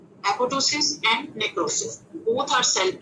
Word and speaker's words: apoptosis: एपोप्टोसिस ये जो है जिसको एपोप्टोसिस लिखा हुआ है लेकिन इसका पी साइलेंट होता है, ठीक है, एपोप्टोसिस and necrosis both are cell injuries.